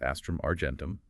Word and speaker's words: Astrum Argentum: It was called the Era, pronounced Astrum Argentum, which means silver star.